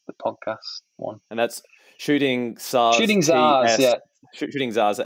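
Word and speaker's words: Shooting Tsars: And that's Shooting Zars. Shooting Zars, yeah. Shooting Zars. How do they spell it?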